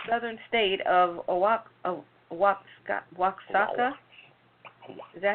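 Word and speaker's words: Oaxaca: market in the southern state of aak wa waaka is that how you pronounce it oaka I'm not going o a x a CA o aaka o aaka the Widemouth bottles were filled with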